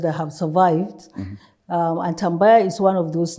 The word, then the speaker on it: Tambaya: And it's the story of, tell me if I'm pronouncing the name correctly, is it Tambaya? Yes, you're correct. It's Tambaya.